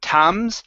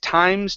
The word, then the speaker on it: times: So instead of tams, it's an I sound. Okay, so stopping at times to investigate various matters.